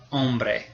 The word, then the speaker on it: hombre: In Spanish, la H is completely silent. It never says anything. So here we have a man, it's el hombre.